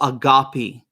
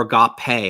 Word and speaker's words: agape: love self-giving love what in the Greek we would call agape or agape I I tend to I have a Byzantine pronunciation degree so agape love the self-emptying love because